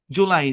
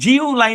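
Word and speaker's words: July: জুলাই, জিউ লাই না, কিন্তু multi syllabic ওয়ার্ডে ইউ এর লং সাউন্ড উ, উ, উ, এই সাউন্ডে কনভার্ট হয়, মানে উচ্চারণটাকে সহজ করার জন্য।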